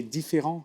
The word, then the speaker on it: Différent: tank, would you say Différent? How do you pronounce it the French way? Yeah, you can pronounce it in the English way. Yeah. Think tank is called Different.